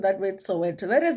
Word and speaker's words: Soweto: Actually, that word, you can't pronounce that word Soweto. That is not Soweto. Soweto would be THO at the end, okay? So if you are Zulu and reading that word, it's Soweto.